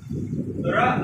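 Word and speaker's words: wrong: যদি double A থাকে তাহলে উচ্চারণে কিন্তু ডাবল এ টা সাইলেন্ট হবে ডাবল এর উচ্চারণ হবে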